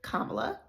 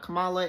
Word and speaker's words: Kamala: But in endorsing his vice president, in endorsing Kamala Harris, okay? Number one, I want y'all to learn to say her name correctly, Kamala. It's not Kamala, it's not Kamala, it's Kamala, okay?